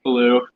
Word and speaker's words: Beaulieu: to say it is Beulieu, but the American way we say it is Beulieu. Wait, really? Yeah. So at the World Roundup, when they pronounce your name like way off, it's actually correct.